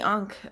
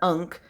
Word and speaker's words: ankh: later um but uh so the ankh or ankh um it's pronounced however you want to pronounce it i'm i'm sure some people will disagree but i've heard it pronounced both ways i've also heard unk so totally um depends on where you're getting your information i guess on how you want to pronounce it so that's going to